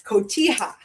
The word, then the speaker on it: Cotija: It's Cotija.